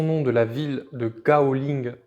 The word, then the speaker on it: Gaoling: Le kaolin tient son nom de la ville de Gaoling en Chine, qu'on prononce aussi Kaoling.